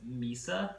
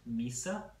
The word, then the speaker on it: MYSA: the new company is Mesa natural wine that's my si pronounced Mesa and we've been we've